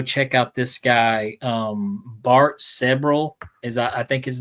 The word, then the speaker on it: Sibrel: But his name is Bart Sebrel. I think I'm saying it right. Either Sebrel or Sebrel. It's Sibrel.